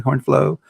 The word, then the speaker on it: HornFlow: book and what he's doing with this with HornFlow. Did I say it correctly? HornFlow.